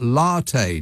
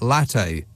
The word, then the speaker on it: latte: He indignantly raised his chin and said, it's pronounced latte, not latte.